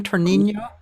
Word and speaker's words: Tonino: Tonino. Tonino. Oh, Tonino.